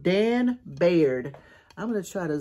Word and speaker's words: Baird: It's called Dan Baird. I'm going to try to zoom in a little bit so you guys can see that signature. Dan Baird, B-A-I-R-D, not Briard.